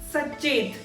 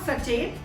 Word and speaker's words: sachet: This is a bit funny actually, because my friend used to pronounce it Sachet. Sachet. This is not Sachet. This is pronounced as sachet.